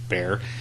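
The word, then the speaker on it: Bexar: in the county of bear and if you're not from Central Texas bear is b x a r right uh I don't know where that prononciation comes from cuz it doesn't sound Spanish bear I think is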